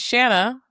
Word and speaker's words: Shanna: We've got Shanna, who said her name rhymes with banana.